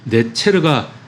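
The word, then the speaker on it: נצר: 여기에서이 한 가지 할 때 가지의 히브리어가 단어의 발음이 네체르인데요.이 이 네체르가 나사렛.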